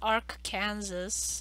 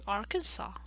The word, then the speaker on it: Arkansas: like Kansas in it but you don't pronounce it the same it's not Arkansas it's Arkansas and I know it's